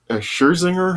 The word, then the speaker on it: Scherzinger: Yes, there's Michael Stolbarg, there's Mike Coulter, there Nicole Scher, Scherzinger, is that how it's said?